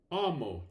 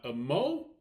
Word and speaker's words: amo: So for example, in the first row, we have amo, and the stress will fall on the first syllable, which is the letter A, amo, not amo. That would be wrong, but amo.